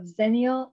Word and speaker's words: Xennial: have the pleasure of introducing Douglas Fajardo of zenial digital did I pronounce that correctly yeah you do okay good